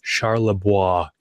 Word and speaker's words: Charlebois: that I know that Nick's last name is pronounced Charlebois, which is how I would have pronounced it.